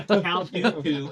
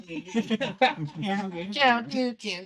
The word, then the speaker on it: Count Dooku: But, uh, Countu assembles him and all of these other people. Count Dooku. Uh, but he assembles all of these bounty hunters on, um, that's his home planet. Count Dooku's home planet.